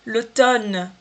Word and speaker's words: automne: Le printemps, que seria a primavera, l'été, o verão, l'automne, outono, não vou pronunciar esse M, tá vendo? Eu vou falar l'automne, já emendo aqui no ne, ça va?